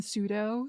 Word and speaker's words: pseudo: sounds unimpressed also Kim you do not pronounce the p in pseudo sir I got my